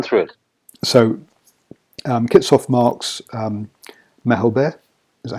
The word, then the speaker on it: Malherbe: So Kitshoff marks Mahelber, is that how you say it? In the front row. Malherbe.